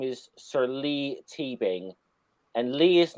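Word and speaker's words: Leigh: trivia on him here his name is sir lee teebing and lee is not pronounced the spell l double e it's it's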